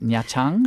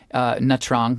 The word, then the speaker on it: Nha Trang: We went to Nha Trang, I believe the pronunciation is. Nha Trang, I think a lot of people say, right?